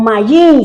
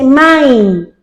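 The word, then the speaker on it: מים: se dice main o mayin, se escribe mayin y se dice main. Empieza con la M abierta, vuelvo y le digo, y termina con la M cerrada.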